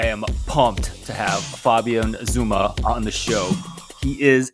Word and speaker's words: Sommer: Okay, so in German it's Sommer, and that's the German word for summer.